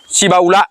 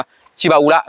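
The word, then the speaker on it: Shibaura: นี้ รถ เข้า ใหม่ ชิบาอุระ นะ ครับ บ้าน เฮา เอิ้น ติด ปาก ว่า ชิบู นะ ครับ แต่ ว่า ญี่ปุ่น อ่าน ว่า ชิบาอุระ นะ ครับ ชิบาอุระ นะ ครับ ตัว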